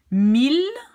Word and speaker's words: mille: Mille. Even though you have two L's, you don't say Y but L. Mille.